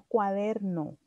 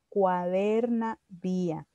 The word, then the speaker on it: cuaderna vía: Y eso se llama cuadernavía, no cuaderno, sino cuadernavía.